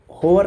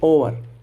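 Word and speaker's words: hour: अब इसको हम होवर नहीं पढ़ेंगे। इसको हम पढ़ेंगे ओवर।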